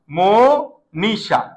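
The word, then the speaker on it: মনীষা: মনিষা এই লক্ষ কর এই ম এর সাথে একটা অ আছে যেটাকে আমরা উচ্চারণ করি কি জানো মনিষা এটার ও হয়ে গেছে এটার উচ্চারণটা এখন আর অ হচ্ছে না এটার উচ্চারণটা কি হচ্ছে ও হচ্ছে এটার রুলসটা আমরা দেখিয়ে দিব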